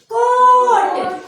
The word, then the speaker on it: coat: तो अपना ही मम्मी है ना, तो ए साइलेंट हो जाता है और जो ओ है वो अपना ही नाम पुकारता है, ओ ऐसा बोलता है। तो जैसे कि दो कॉन्सोनेंट के बीच में ओ पहले ओ फिर ए, COAT कोट, BOAT बोट, GOAT गोट होता है ना ऐसा?